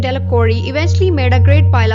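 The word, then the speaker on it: Delacroix: Dickie de la cruzia the villagers pronounce his name delacori eventually made a great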